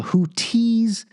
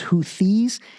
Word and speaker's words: Houthis: because their military Rebellion group is called the houthis sometimes people say the houes kind of like hoodie and the Blowfish but it's actually pronounced hes and you know I need to research them